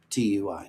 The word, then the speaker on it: TUI: I've been saying TUI Cruises, and Lori, I stand corrected. TUI is how I pronounce TUI.